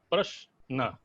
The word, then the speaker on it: प्रश्न: प्रश्न का उच्चारण करके देखें आप, प्रश्न, प्रश्न, प्र और श हलंत करके एक साथ आता है उच्चारण करने में, तो वहां पर 2 हो जाता है, और फिर न अकेले हो जाता है।